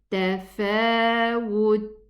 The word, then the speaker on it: تفاوت: And listen to it. Tafawut, wut. Just a slight whispering sound. And don't pronounce it immediately. Don't say would. Otherwise, it will sound like the qalqala.